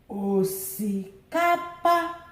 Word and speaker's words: osikapa: Osikapa, osikapa, low, low, high, high.